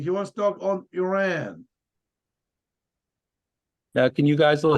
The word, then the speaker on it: Iran: couple of thoughts on Iran just to start the discussion it's actually Iran is correct pronunciation in Florida it's Iran they don't deserve he's a s he's a s they can't speak proper English anyway here what I